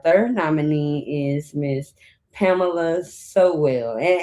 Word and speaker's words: Sowell: And tonight, our third nominee is Miss Pamela Sowell. And am I saying your last name right? Yes, yes, so well.